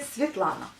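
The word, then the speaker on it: Светлана: Je m'appelle Svetlana, donc le prénom en russe c'est Svetlana, avec un bon accent au début du prénom et pas à la fin comme à la française.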